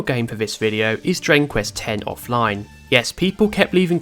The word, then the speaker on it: Dragon Quest X: Dragon Quest frees video because I was pronouncing it Dragon Quest X so I'm making sure to pronounce it correctly now I will also say